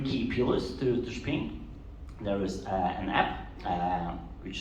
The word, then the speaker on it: Shping: So it's Shping for shopping. So Shping is an ecosystem that connects brands with the end consumers across all retail environments. So there are 3 key pillars to Shping.